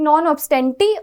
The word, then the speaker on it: non obstante: सो यू can either pronounce it like नॉन ऑब्स्टेंटी और नॉन ऑब्स्टेंट.